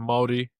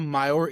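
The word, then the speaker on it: Māori: The word you're saying, it's not Maori, it's Morty?Maori, yeah, Maori. It's like M-A, yeah, you kind of roll the R. You roll the R, that's how you pronounce it.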